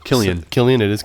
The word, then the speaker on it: Cillian: Is that some- how his name is pronounced? Killian. Killian. It is Killian. Mm-hmm. I thought it was Cillian for the longest time.